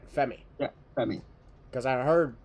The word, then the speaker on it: Femi: the NXT North American Championship we're the champion Oba fi is that I I I said it right right FEI yeah FEI cuz I heard this is sounds